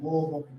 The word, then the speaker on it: Louisville: I'm originally from Louisville, Kentucky. And you gotta really swallow that, Louisville. If you were to look at a map, you'd be like, Sam, that's spelled Louisville.